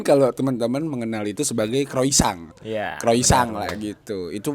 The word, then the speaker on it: croissant: Kosong. Kosong itu pelafalan dari versi bahasa Prancisnya. Kalau di Google Translate tuh memang si orang Prancis tuh kalau ngomong kosong gitu. Kosong. Mungkin kalau teman-teman mengenal itu sebagai croissant.